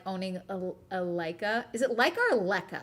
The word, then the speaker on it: Leica: Okay, first one was right. Pronounced like Leica. Leica.